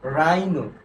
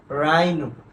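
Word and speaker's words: rhino: এরপরে দেখো এই যে আর এর পরে কি আছে? এইচ আছে, তাহলে হলো কি রাইনো। এটার উচ্চারণ কি হবে বলতো? রাইনো।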